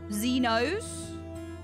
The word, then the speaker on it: Zenos: me feel that way just pronounce the S okay Z knows zenos there you go